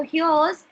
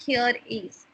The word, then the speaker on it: here's: Okay, so here's HERE and then apostrophe S. It should be pronounced as here's, not here is.